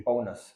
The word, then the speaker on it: Paunas: मैं आपको पौनस जोशी, मैं प्रोनाउंस सही कर रहा हूँ आपका नाम? Yeah, okay, Paunas Joshi. पौनस, Yeah.